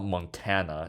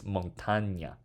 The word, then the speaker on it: montaña: It's not Montana, it's montaña.